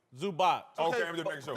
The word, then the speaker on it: Zubac: You know more basketball than me, but it's Zubac or Zubik? Zubac.